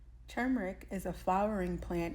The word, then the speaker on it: turmeric: at Dollar Tree and you say it like this turmeric turmeric is a flower in